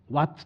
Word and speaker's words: ワッツ: うのは、ワットに S をつけるとワッツと発音するよ。